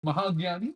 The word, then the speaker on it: mahagyani: want to do that mahagyani is the right way to say no things like that